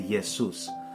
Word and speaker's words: Jesus: German it's spelled with a j and they pronounce the J as a so they'll say yesus and in English as we know it's a